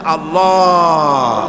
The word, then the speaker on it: আল্লাহ: আল্লাহ পাকের নাম হচ্ছে আল্লাহ মুখটা একটু গোল হয়ে যাবে বলেন আল্লাহ আল্লাহ পৃথিবীতে বিভিন্ন জাতি